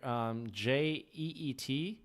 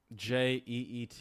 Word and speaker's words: jeet: So Jared, do you know what does it's spelled here Jeet, Jeet. What's that mean? Jeet. Jeet. Jeet earlier today, or are you still hungry? Oh, is that a dialectual thing? Yep. Mm-hmm. G earlier today? Yeah. Did you eat earlier today?